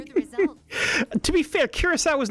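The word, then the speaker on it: Curaçao: The Sadia is pronounced as an S.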